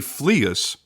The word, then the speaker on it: Fleuss: it makes it hard to listen to me pronouncing it correctly but the watch is named after Henry fleas who was credited as the first ever scuba